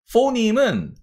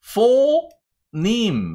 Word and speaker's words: phoneme: phoneme은 phoneme 이렇게 발음을 하시는 겁니다. 그래서 phoneme 이렇게 발음을 하시면 됩니다.